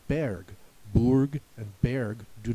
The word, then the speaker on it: Burg: In German it's not so difficult because in German the U makes the U sound, so Germans would say Burg, and the E makes the A sound, so Germans would say Berg. Burg and Berg do not